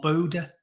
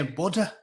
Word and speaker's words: Buddha: Is it Buddha or Buddha? I always used to say Buddha. Body like Buddha. But in America, they always say Buddha.